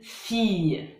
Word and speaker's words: fille: La combinaison des lettres ILL forme le son Y, comme un Y. Y. Par exemple, répétez après moi. Une fille, une famille, du gaspillage, juillet.